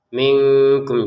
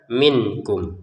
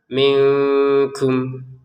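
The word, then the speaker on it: مِنكُم: Nah, ini nun sukun bertemu kaf baru kita membacanya samar minkum. Jadi jangan dibaca jelas ya. Kalau dibaca jelas bagaimana? Minkum ya kan jelas itu kan nun sukunnya itu dibaca jel jelas minkum. Nah sekarang dibaca samar minkum.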